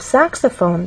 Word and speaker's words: saxophone: up clarinet in the case of saxophone there are also three syllables but the stressed syllable is the first one which means we have